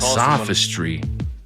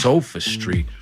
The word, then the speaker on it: sophistry: Dude's calling it sophistry. See, when I heard it used, I heard it pronounced sofa street.